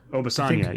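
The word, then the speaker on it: Obisanya: How do you pronounce Obafanya? Obafanya, yeah.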